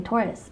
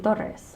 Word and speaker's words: Torres: my last name correctly I didn't grow up pronouncing my last name correctly how I say tortoise but it's supposed to be daughters and I just remember